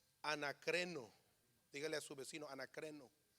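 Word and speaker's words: ἀνακρίνω: La palabra en griego se pronuncia, creo, anacreno.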